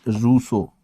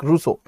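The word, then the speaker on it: Rousseau: Hobs, lock and russo. The pronunciation is Russo.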